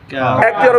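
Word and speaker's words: قاف: তালুর এই সংযোগস্থলটার সাথে আমরা এই জিহবার দূরবর্তী অংশটাকে একটু সামনে বাড়াইয়া ওই অংশটাকে মিলাবো ওই অংশটাকে মিলাইয়া কি বলবো কাফকে উচ্চারণ হইতে হবে কাফ কাফ কাফ কাফ কাফ জবর কাফ জবর কাফ এটা হচ্ছে হরফ এটা হচ্ছে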